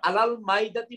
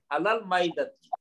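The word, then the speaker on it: على المائدة: এটা এখানে আমরা আলাল মাইদাতি বলবো না স্যার? শিওর, আলাল মাইদাতি কারেক্ট, কারণ এই নামটা তো উচ্চারণ হবে স্যার, উজ্জ থাকবে না, উচ্চারণ হবে, এটা মায়ের উপরে একটা সুকুন হবে।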